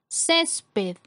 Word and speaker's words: césped: Césped es una palabra que tiene 2 sílabas. La sílaba con mayor fuerza es la penúltima sílaba, cumple con la regla de acentuación porque termina en D, por lo tanto se coloca tilde.